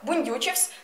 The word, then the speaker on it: бундючивсь: бук означає породу дерева бундючивсь наголосна у у букві ю бундючитись означає надуватись тепер